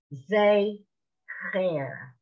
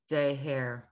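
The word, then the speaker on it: זכר: Zecher. Zeher. Okay, Zeher. If you pronounce it, that's fine, but I want you to know it's the ch.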